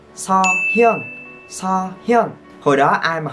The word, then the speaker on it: Seohyun: Không có vậy nha. Đọc là Seohyun.